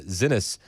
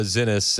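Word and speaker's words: Xinis: it says Judge Paula Zenis and I believe that's how you say it. X I Nis Zenis orders Trump to return a suspected MS-13 member from El Salvador in jail.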